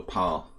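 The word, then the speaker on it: Pál: call him Paul yeah the Hungarian pronunciation is like Paul without the you like it like it looks and you say Banco Paul so Pascal medium they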